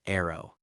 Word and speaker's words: ARRW: At hour 27, the Air Force reveals its own monster, the AGM183A ARRW air launched rapid response weapon, pronounced arrow.